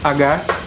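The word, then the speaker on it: Haggard: acredito que eles pronunciam inclusive assim mesmo, Agar, que é uma banda de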